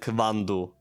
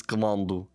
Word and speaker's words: quando: But yeah, so I know in the first episode I said quando, but it's quando.